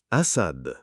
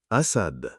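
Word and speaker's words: أسد: Alif is the first letter in the word lion in Arabic, and the pronunciation of the word lion is written below the rectangle. Asad, Asad, Asad.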